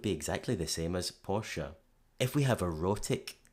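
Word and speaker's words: Porsche: Interestingly, if we write it down as Portia, as in the character from The Merchant of Venice, that would guide English speakers of all accents to a perfect pronunciation of the German car brand.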